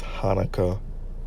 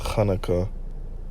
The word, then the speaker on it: Chanukah: Now this high holy day, the Feast of Dedications, okay, also known as what the world says Hanukkah, but it's supposed to be pronounced Chanukah, which in the Hebrew means dedication.